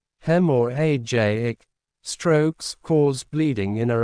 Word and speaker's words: hemorrhagic: Hemorrhagic, pronounced hem or ajic, strokes cause bleeding in or around your brain.